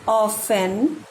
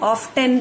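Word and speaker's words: often: हाउ ऑफन we wish for another chance. How माने हाउ ऑफन माने कितनी बार। आप लोग इसको ऑफ्टन पढ़ेंगे, है ना, लेकिन यहाँ पे टी क्या है, साइलेंट है।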